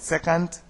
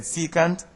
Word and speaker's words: secant: at secant and tangent some may pronounce it second my ancient mathematics teacher said secant and I'm using that word also so secant if a